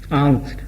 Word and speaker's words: Angst: German भाषा में एक शब्द है, इसको कहते हैं एंग्स्ट, ANGST, आंग्स्ट। वहां जर्मन में से आंग्स्ट प्रोनाउंस करेंगे।